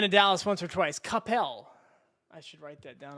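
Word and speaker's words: Coppell: Capel. Okay. Well, tell I've only been to Dallas once or twice. Capel.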